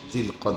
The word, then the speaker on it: জুলকাদা: এই মুহূর্তে আরবিতে যে মাস চলতেছে এই মাসের নাম হচ্ছে আরবি উচ্চারণে হল জুলকাদা। স্বাভাবিকভাবে আমরা বাংলা উচ্চারণে জিলকদ মাস বলি।